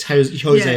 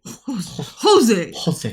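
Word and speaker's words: José: It's Jose as in pronounced, H. Oh. A soft J. Jose. Like Joaquin Phoenix.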